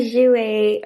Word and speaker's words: Jouer: The Jouer, yes, I know how to pronounce it now. The Jouer, oh my god.